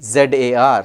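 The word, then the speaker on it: czar: it's pronounced Rondevu TS a r or c z a r c z a r is pronounced Zar it's a Russian word gurme is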